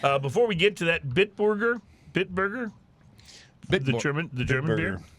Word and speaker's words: Bitburger: Before we get to that, Bitburger, the German beer, Bitburger. It's not Bitburger, it's Bitburger. Bitburger. That sounds more Bitburger, proper.